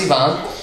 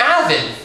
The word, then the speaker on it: Ivan: It's spelt like Ivan, but pronounced Yvonne. Also, you must mean Ivan.